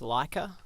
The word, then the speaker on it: Laika: which these guys did I think it's pronounced Lika yeah yeah I haven't